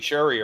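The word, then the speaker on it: Cherie: It's spelled C H E R I E but it's Sherry.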